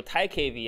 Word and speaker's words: TiKV: So TiKV actually, so that's the pronunciation of the project. Ti just stands for titanium, and KV stands for key value.